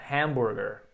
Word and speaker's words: hambúrguer: is your hum burguer a sílaba tônica em hambúrguer é a primeira hamburguer hamburguer e aí o this heart